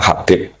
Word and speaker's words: Habib: Itu di harakatnya kitab itu ada yang nulis Hubbab. Yang benar Oh, nggih. Yang benar itu bacanya Habib.